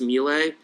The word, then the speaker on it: Miele: correctly i think i am i believe it's pronounced melee so melee does um appliances et cetera they